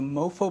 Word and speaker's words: MoPho: Stanford Mobile Phone Orchestra, that shortens to MoPho, but it's spelled with a PH, featuring all iPhone, iPod Touches, and wearable speakers.